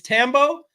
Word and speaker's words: Thambo: It's Tambo. The H is silent.